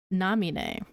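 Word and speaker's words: Naminé: nerd Emoji way because the accented e that's pronounced as like an a sound like like um like the the the the only example I can think of to like bring up is hold on um my girl uh Nami that's how you pronounce her name it it specifically has that accent e um because I remember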